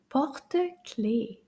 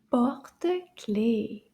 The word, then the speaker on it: porte-clés: In French, we call this un porte-clés. Porte-clés. Let's see how many syllables.